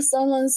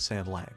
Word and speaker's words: San Lang: since he looks knowledgeable about Oh, Sanlang's so handsome in the donghua.